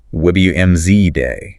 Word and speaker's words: Wednesday: Uh, silent D in Wednesday, WZ day.